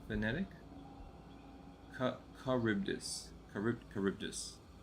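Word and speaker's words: Charybdis: is that right vtic caribdis car carbus so the H is silent okay Greek monster cool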